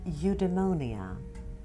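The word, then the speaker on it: eudaimonia: yourself and apply them the first word is evademonia some people pronounce it as eudemonia what it is is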